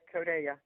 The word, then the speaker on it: CODeLLA: We are so lucky to have Josie from CODeLLA. I think that's exactly how it's said. I'm going to let her correct me if I'm wrong. No, it's perfect. CODeLLA.